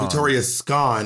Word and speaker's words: Victoria Scone: It's apparently some play on words, I think. So it's apparently pronounced Victoria Scone.